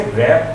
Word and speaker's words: wrap: जैसे WRAP, इसे रैप पढ़ेंगे, इसमें डब्लू नहीं बोला जाएगा।